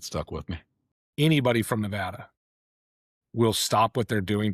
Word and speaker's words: Nevada: In fact, the Reno airport actually has the correct pronunciation as you walk through the airport so people can understand that it's Nevada, not Nevada.